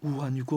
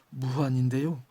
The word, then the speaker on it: 우한: 무한이 어디냐면은 여러분 우한 코로나로 잘 알려진 중국 발음으로 우한이고 우리식 발음으로 무한인데요.